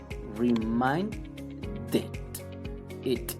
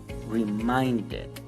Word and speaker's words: reminded: pasado simple que es reminded se va a pronunciar remind it it si ven que yo estoy pronunciando it it al final reminded siguiente tenemos need termina el sonido y letra